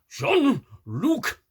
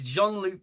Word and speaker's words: Jean-Luc: eating Picard now I I know that sometimes I uh pronounce it as Luke but it's not it's Jean-Luc Picard valik says Hey